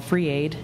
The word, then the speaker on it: FR33: 100% Bitcoin charity called Free Aid, and that's FR33AID. It's pronounced free but spelled FR33.